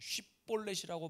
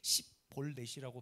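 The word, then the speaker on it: שיבולת: 쉬볼렛이라고 바라 발음하는지 십볼렛이라고 바람하는지 성경에 그대로 나옵니다.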